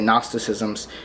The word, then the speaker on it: Gnosticism: I have a professor who devoutly says every word in English that begins with a G, he pronounces the G, even though I would say Gnosticisms. He's got me saying Gnosticism.